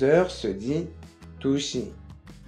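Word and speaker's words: 두 시: 2 heures se dit dushi, dushi.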